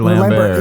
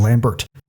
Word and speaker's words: Lambert: Christopher Lambert. Yeah. Well, okay. I know that's how it's said in French, but in every trailer it was Christopher Lambert. So I'm gonna stick with calling it Lambert because that's how they called him all the trailers in America.